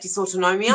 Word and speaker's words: dysautonomia: Dysautonomia? Dysautonomia, yeah. This basically means dysfunction. DYS is dysfunction. Autonomia is autonomic nervous system. That's what that means. Yeah. When she was deep in the storm of dysautonomia, she chalked these up to her condition.